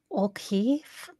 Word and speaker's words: O'Keefe: She How did she pronounce his last name? O'Keefe.